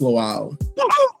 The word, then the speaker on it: Lawal: Please help me welcome the angelic troublemaker himself. Now, did I say your last name correctly? Yeah, it's pronounced lal.